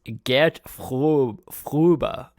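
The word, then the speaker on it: Gert Fröbe: i i i think you'll find it is pronounced get fuba one more time because there's a [ __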